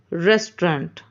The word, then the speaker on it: restaurant: Restaurant. See, I have written the word here, how to pronounce also in a correct way. But it's not a correct pronunciation. The correct pronunciation is restaurant.